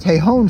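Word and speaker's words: Tejon: on ton Street downtown T te j n pronounced tahon Street not tjn okay all right so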